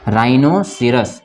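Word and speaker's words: rhinoceros: बाद यदि आए, तो आर के बाद यदि एच आता है तो एच क्या हो जाता है, वहाँ पे साइलेंट हो जाता है। इसको क्या पढ़ेंगे हम, राइनोसिरस। इसको क्या पढ़ेंगे, राइनोसिरस, ठीक है ना। इसको क्या पढ़ेंगे, राइनोसिरस, गेंडा होता है, राइनोसिरस। इसमें क्या पढ़ेंगे, यहाँ भी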